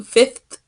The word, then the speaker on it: fifth: I'm going to skip 25 grade so the pronunciation is not upgrade its fit fit I'm going to skip to fifth grade okay the next one is three minutes